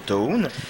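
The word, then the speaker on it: Toune: Puis c'est ça, il s'appelle Toon, T-O-U-N-E, mais qu'il faut prononcer bien sûr Toon.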